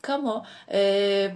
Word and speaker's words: Camus: diyebilirim kamunun bu arada tabii Fransız olduğu için de bazı belgesellerde falan şey kamu şeklinde telaffuz oluyor Albert Kamik şeklinde Ama